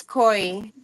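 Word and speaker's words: Quris: Oh, that's Corey. Corey's. Okay. So, it's spelled with a cute.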